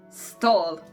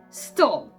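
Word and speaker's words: stol: This is stall. Right, you can do it. Stall. It means stable, and it is pronouncing like s, t, o, l.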